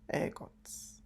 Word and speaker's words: ergot: It's the ergot, it's pronounced air, as in the air. So that's ergot.